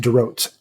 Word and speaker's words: Dorot: Yeah, it's pronounced Dorot.